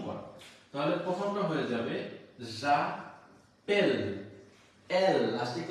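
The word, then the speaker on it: j'appelle: তাহলে প্রথমটা হয়ে যাবে জা পেল, এল লাস্টিক উচ্চারণ হচ্ছে এল, ঠিক আছে।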